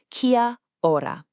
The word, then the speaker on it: kia ora: So, that magic word is kora. And let's get the pronunciation right. It's kia ora.